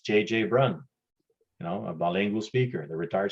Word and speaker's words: Brun: I know my last name, Brun, is hard to pronounce. Brun in English is Brown. So quite often people will just say, Brown, because they can't pronounce Brun.